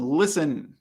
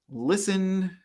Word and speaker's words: listen: and the last one listen listen the t is silent it can be really